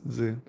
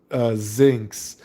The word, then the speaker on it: Zinx: difference, just like how you would assume mine is Zin. Zin, but it's Zinx.